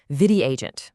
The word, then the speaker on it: VidyAgent: It is called Vidi Agent. That's v i d a agent. The first part is derived from the Sanskrit word vidya, which means knowledge, and it perfectly rhymes with bidya. So, Vidi Agent literally knowledge for agents.